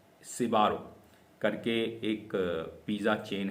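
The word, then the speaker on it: Sbarro: तो इसको जो प्रोनाउंस किया जाता है वो प्रोनाउंस किया जाता है सिबारो।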